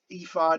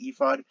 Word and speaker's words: ephod: close-up of the the ephod i think it's pronounced ephod the ephod of the high